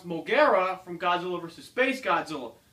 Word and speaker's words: Mogera: a lot of people may recognize MRA or pronounce mogera from Godzilla versus Space Godzilla so this is